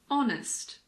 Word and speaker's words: honest: sh like in Chef there are also a few words that start with a silent h for example air honest h hour in American English the